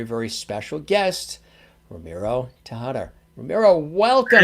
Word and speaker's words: Ramiro: huh say your name where you really say it with that rolling r my with my accent is ramiro you know and you said ramiro typical typical american way to say it right like romano and you really roll that r which is something your tongue goes like flutter so how are you